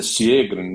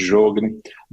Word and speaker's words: Sjögren: síndrome de Sjögren, a pronúncia é Sjögren, né, mas todo mundo conhece como síndrome de Sjögren, própria doença celíaca, vasculites,